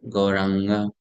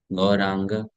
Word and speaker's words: Gauranga: Now next word is Gauranga. Gauranga. Ang. That sound is coming and is having a dot at the top. Right? Gauranga. It's not na. It is ang. Gauranga. Same thing comes in Ganga.